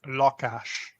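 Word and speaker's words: lakás: The word for apartment in Hungarian is pronounced lakash. It sounds like the English word for law. Sounds like the English word for cash.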